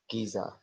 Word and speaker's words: Giza: This word is pronounced Giza.